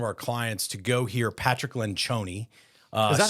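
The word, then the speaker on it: Patrick Lencioni: of one of our clients to go hear Patrick lenon uh is that how you say his name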